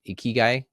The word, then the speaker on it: ikigai: I think is it Ikigai? Tell me. You got it. You Okay. All right. got it. Ikigai.